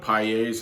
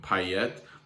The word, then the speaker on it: Payet: I think normally his name, like correctly in France, would be spelled Payette, and that would make you definitely pronounce the T.